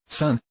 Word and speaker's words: SSSN: A few minutes later, Ulan, Gianos, Melania, and Itri were named Team UAMI, pronounced Ultramarine. Sun's team arguably got off the best with Team